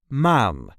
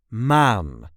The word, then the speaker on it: maan: This is the way we say maan, maan. There is no real emphasis there, just maan. Make that a long A. Maan.